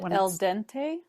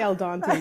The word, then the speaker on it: al dente: and right in a softer I don't know Al Dente sorry now she's correcting my Italian like she's